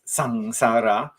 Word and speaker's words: samsara: so as you know samsara yeah we pronounce it with an ng rather than m sound as sangsara and it has been